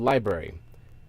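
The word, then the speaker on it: LBRY: that were taken down through the service called Library. It's been sort of a new age sort of fashion. It's it's spelled Libry.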